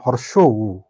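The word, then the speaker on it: হ্রস্ব উ: দেখুন, এই বর্ণটি উচ্চারণ করতে গেলে আমাদের অনেক সময় আমরা হর্ষ, রস্য এরকম ধরনের ভুল উচ্চারণ করে থাকি, কিন্তু বর্ণটির সঠিক উচ্চারণ হর্ষ হাইপেন উ ইজিক্যাল টু হর্ষ উ। অর্থাৎ হর্ষ উ, সঠিক উচ্চারণ হর্ষ উ।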